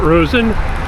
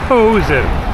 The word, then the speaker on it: Posen: I've been saying the name wrong. It's a town of Posen, not Rosen. Posen.